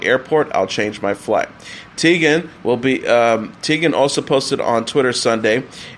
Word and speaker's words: Teigen: Chrissy Teigen has posted on Twitter a video of herself explaining how to correctly pronounce her last name as Teigen.